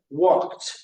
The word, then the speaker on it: walked: or you walked on the beach walk to walked so let's pron let's practice that and you can pronounce it home everyone wash T washed ask